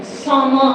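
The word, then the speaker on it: צמא: TSAMAH. இது வந்து இதை நம்ம சாமா அப்படின்னு ப்ரொனவுன்ஸ் பண்றோம்.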